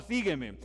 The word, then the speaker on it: sígueme: Vamos a hacer la siguiente modalidad con la palabra sígueme. Resulta que en gramática tiene 3 sílabas, entonces es sígueme. Entonces, si vamos a la gramática, también dice que la tilde es en la I, sí.